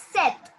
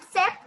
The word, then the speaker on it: sept: is set. It's not sept. P is silent over here. It's set.